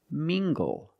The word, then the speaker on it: mingle: Let's look at this word, mingle. Using the nasal sound and the hard g. Together, mingle. Mingle.